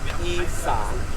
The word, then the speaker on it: Isan: And then after that, the written changed, repeatedly, and then it comes to the word Isan, which is that's how the Thai pronounce.